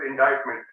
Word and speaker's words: indictment: just it's an indictment it is written as indictment pronounced as indictment okay so charge shooting